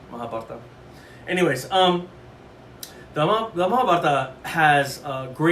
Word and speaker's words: Mahabharata: The Mahabharata is how it's pronounced. I hear online on Ancient Aliens specifically, they always go Mahabharata.